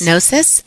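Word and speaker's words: Gnosis: With a G. G N O. But the G is like silent. Yes. Nosis.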